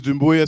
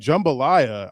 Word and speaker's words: Doumbouya: My last name is Doumbouya. Some people find it hard to pronounce. I don't think it's too hard. In the past, I told my boss, I was like, my name is Doumbouya. And he was like, jambalaya.